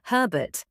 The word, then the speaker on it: Herbert: Although, to be fair, some British dialects do drop the H, Cockney English, for example. True, but when we're talking about standard British English, what they call received pronunciation, the H stays.